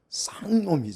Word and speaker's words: 상놈: 사람은 우리 말로 표현하면 좀 강하게 발음하면 상놈은 쌍놈이 아아 쌍놈 예 그런 차이예요